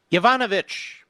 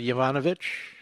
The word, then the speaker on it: Yovanovitch: Yovanovitch. Have you ever heard of Yovanovitch? It rhymes with Yvonne Snitch, I would say. Yvonne Litch. Yvonne Skitch. Anyway, Yovanovitch.